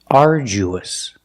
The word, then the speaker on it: arduous: us and when you link the ooh to the US there's a sound that links the vowels it's like a w it's the sound so together are Jews arduous example they went on